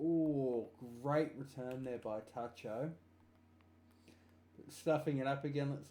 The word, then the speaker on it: Tacho: belt tcho with one am I pronouncing your name right tcho or is it Taco I know you're not talking give me hang on wait for him to put his head back on we'll get a nod is it pronounced Tacho there we go all